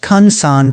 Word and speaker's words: Ju/'hoansi: He tracked the daily routines of Botswana's Dobe Ju/'hoansi, pronounced Kung San people, one of the last remaining groups living like our pre-agricultural ancestors.